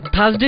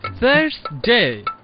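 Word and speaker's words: Thursday: বাই দ্য ওয়ে, তোদের থার্সডে নিয়েও একটি সমস্যা আছে। দাঁত এবং জিহ্বার মধ্যবর্তী স্থান থেকে বাতাস বের করে বলতে হবে থার্সডে।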